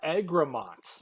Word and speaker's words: Egremont: How do I pronounce it? Egremont.